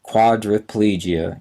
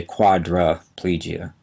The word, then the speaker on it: quadriplegia: spelling of this word quadriplegia is q u a d r i p l e g i a we often pronounce it as if that i is an a we say quadra plegia but it's spelled quadriplegia